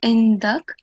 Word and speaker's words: عندك: So here, when you pause, as you know, the last stroke on the last letter, you don't pronounce it, so it will be indak.